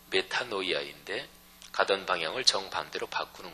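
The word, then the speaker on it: μετάνοια: 근원적인 변화를 담고 있습니다 헬라어 발음으로 메타노이아 있데 가던 방향을 정반대로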